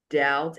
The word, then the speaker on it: doubt: So, we have the word debt, doubt, and subtle. They take the BT form. The BT form. And when the B comes before the T, the B is silent.